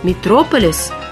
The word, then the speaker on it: метрополис: версии связаны некоторые путаницы ударение существительным Метрополис оно падает на второй слог Однако в русском слове митрополия ударение традиционно на третьем слоге и митрополис который по сути то же самое Это ударение сохранил Так что нет никакого метрополиса есть Метрополис а Если возникнут сомнения вспомните про Мегаполис и ударение сразу станет на свое место и на этом У